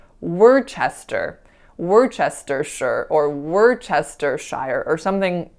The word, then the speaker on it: Worcestershire: So the next word is Worcestershire. Worcestershire.